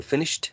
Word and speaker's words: finished: finish remember that um finish ends in this sh so the ed sound should be voiceless as well so it should be T right so finished that's the only comment